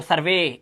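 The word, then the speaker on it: survey: आगे चलते हैं, जब किसी वर्ड के लास्ट में वी, टी एच और आर के बाद ई वाई दिखाई दे तब ई वाई का उच्चारण ए करना है, जैसे देखो यहां पे वी के बाद ई वाई तो सर्वे, ए की आवाज, ट्रे, प्रे, टी एच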